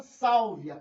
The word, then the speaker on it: Sálvia: semivogal + vogal e a sílaba tônica é essa Sálvia então a gente é